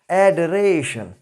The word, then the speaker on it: adoration: The pronunciation will be adoration.